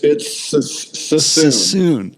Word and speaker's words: Suisun: It's Suisun. It's spelled funny. So when my brain is, there's certain words I cannot say that I will never say on this podcast because I cannot pronounce them. Suisun Marsh.